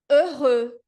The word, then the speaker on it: heureux: Então, a palavra é heureux. Heureux. Cris, e esse X do final mudo? A letra X na posição final em francês também é uma consoante muda.